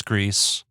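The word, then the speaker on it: Gris: that created Greece and we know it's Greece because the developers have phonetically explained how to pronounce their name on Twitter but from the creators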